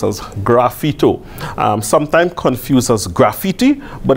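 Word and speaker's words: sgraffito: word is Italian right so some people say screw Vito but it's not English so it's supposed to be pronounced as graffito sometime confuses graffiti but it's similar but different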